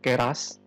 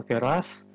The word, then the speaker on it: Keras: menginstall sebuah Framework namanya keras jadi bacanya keras bukan keras-keras ini merupakan Framework atau